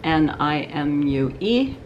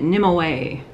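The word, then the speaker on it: Nimue: on to them by a company whose name is spelled n-i-m-u-e and or is it n-i-m-u-e the n-i-m-u-e and i hear people calling it nim away nimoy and i so i wrote to her and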